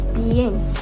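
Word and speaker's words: bien: So fine is pronounced as बी एन, बी एन.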